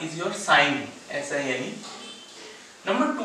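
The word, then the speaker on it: sine: जैसे साइन का पहला तीन लेटर लेंगे, क्या होगा वो साइन को साइन, एस आई एन, इसको सीन मत बोलना, प्रोनाउंस करते हैं साइन।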